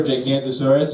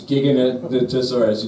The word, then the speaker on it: Giganotosaurus: You guys hear that they got a new pronunciation for Gigantosaurus? It's Giganotosaurus. If you saw the new Jurassic Park film, they changed the.